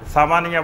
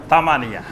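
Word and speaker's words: ثمانية: সামানিয়া, 8 হইল সামানিয়া, সামানিয়া বলবে না, বলবে তামানিয়া।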